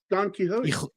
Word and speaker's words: Quixote: It's Don Quixote.